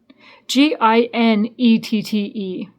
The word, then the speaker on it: Ginette: Ginette. So gin, like a drink of gin. right? Like gin rummy, Ginette.